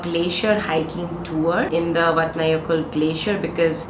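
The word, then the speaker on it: Vatnajökull: glacier hiking in the vatnayakul glacier so I'll put the name here because the way you spell it and pronounce it is completely different and I've had a couple of locals correct me so that's why I'm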